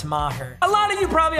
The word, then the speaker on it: Maher: lot of people think my last name is pronounced meager because everyone calls me it's not it's maher a lot of you probably already know that